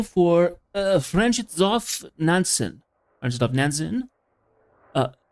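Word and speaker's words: Fridtjof Nansen: Nancy Vision's name for uh Franchov Nansen. Fransen uh Froff Nansen. That's how it's pronounced.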